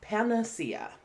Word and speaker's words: panacea: a noun this is a difficult word to pronounce because it has so many vowels specifically A's but it's pania right and typically I'll hear this in the